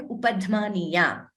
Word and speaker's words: upadhmaniya: So according to one particular rule there, the letters pa, pa and upadhmaniya, they have to be pronounced using both the lips. Oshtau, we say. Oshtau means both the lips. It's a dual number, dvivachanam, oshtau. So upadhmaniya is pronounced using both the lips. So naguro paramam. What is happening here? There is a sudden expulsion of air and we are closing the lips. It is not fa.